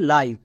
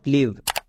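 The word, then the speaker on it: live: লাইভ এর উচ্চারণ হবে লাইভ কেন I vowel V consonant E vowel মানে ভিসিবি রুলে আছে ভিসিবি রুলে আই এর লং সাউন্ড আই তাই এর উচ্চারণ দাঁড়াবে লাইভ নট লিভ next 17 number ওয়ার্ডটি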